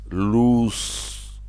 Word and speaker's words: loose: very tight it's loose the pronunciation sounds with an S an extended o with an S loose but when we lose